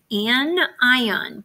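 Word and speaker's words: anion: we call it an an ion practice that pronunciation because people screw that all up it's got the word ion in it and then the prefix is an the atom that loses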